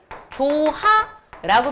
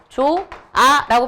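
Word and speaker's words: 좋아: 조하라고 발음하지 않잖아. 이거 뭐라고 발음하는 거야? 조아라고 발음하는 거지.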